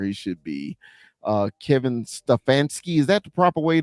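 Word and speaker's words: Stefanski: he's right where he should be uh Kevin stefansky is that the proper way to pronounce his name that's perfect uh uh Sean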